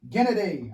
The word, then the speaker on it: Gennady: Gennady.